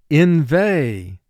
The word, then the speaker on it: inveigh: Inveigh. Inveigh. The speaker began to inveigh against the other group. Inveigh. 2 syllables. First syllable in, 2 sounds. I, n. Veigh, 2 sounds. V, a. Inveigh.